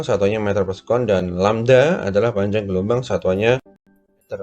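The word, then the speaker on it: λ: Yang V sama dengan lambda itu bacanya lambda ya, dikali F kecil ya.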